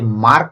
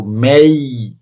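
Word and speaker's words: May: Next, মেই, মেই, যেটাকে আমরা মাঝে মধ্যে মে উচ্চারণ করে থাকি, কিন্তু এটির উচ্চারণ মে না, এটির উচ্চারণ হলো মেই।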